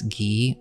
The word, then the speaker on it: Guy: and in this case it's Alice gee or it's spelled Alice guy or was she just